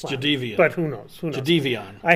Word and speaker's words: Jadeveon: Although his father today was in the media, he says that the actual pronunciation is Jadeveon. It's Jadeveon.